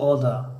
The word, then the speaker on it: Otta: در لهجه گفتاری امریکایی اوتا ت به پررگی تلفظ نمیشود، مائل یا قریب به حرف دی است. مثلا این خیلی تلفظ میکنم. My name is Oda. دی یعنی دی پورا نیست و تی پورا نیست، مابین دی و تی است.